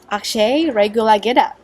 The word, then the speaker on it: Akshay Regulagedda: I'm Jane, and today we are joined by Akshay Regulagedda. Welcome, Akshay. Pitch perfect. That's how you say my name.